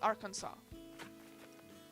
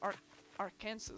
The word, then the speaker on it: Arkansas: with me i also didn't know it was arkansas i always thought it was our arkansas or something like that also why do you